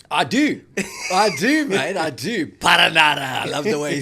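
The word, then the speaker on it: Perenara: Okay, how do you pronounce the New Zealand number 9's name? Paranara! TJ Paranara.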